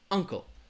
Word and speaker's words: uncle: it a little easier has two syllables the stress is gonna be on that first syllable uncle uncle uncle all right like you're your relative your uncle uncle and ankle the difference